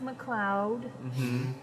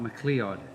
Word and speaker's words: MacLeod: It's pronounced MacLeod. Not MacLeod. Or MacLeod.